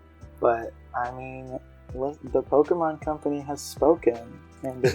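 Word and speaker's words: Pokémon: about how like um the voice director is constantly telling them like it's pokemon you can't say pokemon you can't say pokemon it's pokemon um and even i'm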